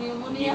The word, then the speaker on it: pneumonia: spelling এটাতে উচ্চারণ নিউমোনিয়া হলো বানানে প্রথমে পি আছে নিউমোনিয়া তো পি এর কোনো দরকারই নেই শুধু শুধু যেমন নো হ্যাঁ